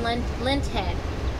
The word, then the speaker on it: linthead: Spell it. L-I-N-T. Lint? Lint. Like in the cotton head.